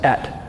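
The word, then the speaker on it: את: The Hebrew is that Hebrew word spelled Aleph and Tav is pronounced et.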